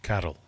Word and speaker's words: Carl: As a proud Scotsman, Carl is pronounced Carol.